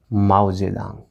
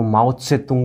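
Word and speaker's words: 毛泽东: जिसका नाम होता है माओ जेदांग। हालांकि इसको माओ त्से तुंग भी बोला जाता है, माओ जेदांग भी बोलते हैं, वो चाइनीज़ नाम है इनका, 3-4 टाइप से प्रोनाउंसिएशन होता है।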